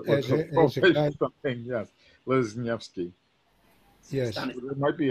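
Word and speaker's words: Leśniewski: Lesniewski.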